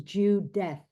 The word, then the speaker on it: Judith: And I only just realized it when we were doing this, when you said about pronunciation, that the pronunciation is Judeth, Ugh.